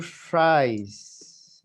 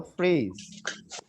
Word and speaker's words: fries: no se les olvide que es fries, no freeze. Fries. Fries. Yes, Fries. fries. Fries. Fries. La E se elimina y la I se pronuncia como si fuera una vocal. En este caso, fries.